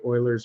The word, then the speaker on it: Euler: l e r although it's pronounced a little weird for the culture you may be used to but Euler was uh